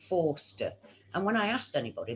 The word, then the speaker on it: Forster: Now, it was always spelled Foster, Foster, but pronounced Forster.